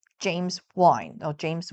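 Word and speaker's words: Wynn: So I'm sure you guys have heard of the name James Wine or James Win. I think it's pronounced Win, right? Because he's trying to win.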